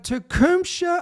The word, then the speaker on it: Tecumseh: The Tecumseh, I believe that's how you pronounce it, Tecumseh Comet, that was seen over the heavens during the same time frame.